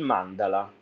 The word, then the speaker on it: mandala: sicuramente sentito è il mandala Molti dicono mand in realtà l'accento è su Mandala Infatti c'era un Meme